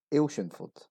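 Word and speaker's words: Athelstaneford: 4 syllables as it's written. This is actually pronounced as Ailshinford. Ailshinford. Only 3 syllables.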